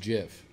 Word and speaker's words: GIF: did that gift I don't talk it's called pronounced Jeff Jeff well I put that on bread am